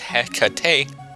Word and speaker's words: Hecate: princess Knight that appeared in nakayoshi HEC is pronounced Hecate in Greek HEC is the Greek goddess of